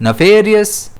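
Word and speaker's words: nefarious: अगर हम Cambridge dictionary के अकॉर्डिंग देखें तो इसका प्रोनाउंसिएशन है नफेरियस और ऑक्सफोर्ड डिक्शनरी के अकॉर्डिंग है नेफेरियस। बट दोनों में ही स्ट्रेस जो है वह एफ पर रहेगा।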